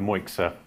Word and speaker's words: Moixa: uh I'm founder of MOA technology is the word Axiom backwards we rethink foundations of